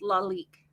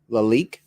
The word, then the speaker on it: Lalique: do you think says I think it's pronounced Lalique Lalique that's not how you would say that um Lalique wow that is not how I read it um thanks Ed Happy